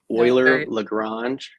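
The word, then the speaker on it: Euler Lagrange: I guess we can start with the pronunciation oer lrange the first part last name of a famous mathematician probably the greatest mathematician of all time Leonard oer Swiss mathematician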